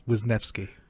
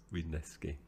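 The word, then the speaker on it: Wisniewski: explaining that to listeners I I Googled the pronunciation and apparently it's wisneski wisneski there we go close thank you Andy I'm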